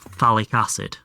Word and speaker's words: phthalic acid: What about phthalic acid? I know that one from my chemistry days. Phthalic acid. You pronounce it like a TH.